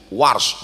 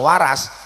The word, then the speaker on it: Warsh: Saya dikit-dikit tahu qiraat Warsh karena guru Warsh, bukan Waras.